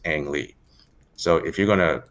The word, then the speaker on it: Ang: you would actually correctly write it in out and romanized it would be like an but he's